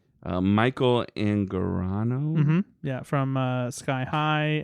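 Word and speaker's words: Michael Angarano: Uh, Michael Anorano. Yeah. From uh Sky High and Gentleman Bronco. It's pronounced Michael Anorano.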